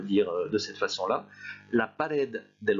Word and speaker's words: pared: Le mot pared se termine par une consonne, donc c'est cette dernière syllabe qui doit être prononcée plus fort, de même que pour hospital.